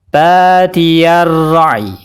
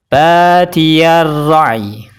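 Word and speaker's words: بَادِيَ الرَّأْيِ: Ketika diwakafkan, cara bacanya badiyar ra'i. Badiyar ra'i. Jadi sukunkan huruf ya, ya-nya disukunkan yang berwarna kuning, dan bunyikan huruf vokal pada ya. Ya-nya dikasih bunyi vokal. Lalu sempurnakan huruf sukun sebelumnya,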